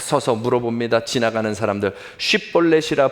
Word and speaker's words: 쉽볼렛: 지나가는 사람들, 쉽볼렛이라 발음하라 하여 에브라임 사람이 그렇게 바로 말하지 못하고 쉽이라고 하지 못하고 십볼렛이라고 하면 그 사람은 길르앗 사람이니 잡아서 죽이라.